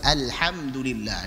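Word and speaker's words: الحمد لله: Misalkan ketika dia membaca alhamdulillah dengan alhamdulillah, harusnya ha itu istifal, tarqiq, tipis. Kemudian dia bacanya dengan tafkhim, tebal, maka ini salah, dikoreksi alhamdulillah dengan tipis.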